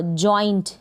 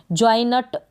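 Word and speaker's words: joint: अब यहाँ पर जो एन है इसको आप आधे न के रूप में प्रोनाउंस कर रहे हैं, जॉइनट नहीं बोल रहे हैं, यानी पूरा बोलेंगे एन को तो जॉइनट बन जाएगा, तो ये गलत हो जाएगा।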